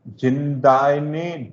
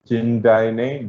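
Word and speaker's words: Jindabyne: This is जिंदाइने dam over snowy river Australia. B को आप silent रखेंगे तो इसको पढ़ पाएंगे थोड़ा सा, otherwise these are difficult to pronounce. जिंदाइने डैम on snowy river in Australia.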